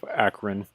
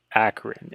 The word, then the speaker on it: Aquarin: Aquarin, Aquarin, Aquarin, like aqua with a rin at the end of it. This entire time I've been pronouncing it Aquarian.